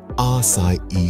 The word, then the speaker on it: Açaí: So how do you properly pronounce it? It's our Tropical Bliss Açaí smoothie.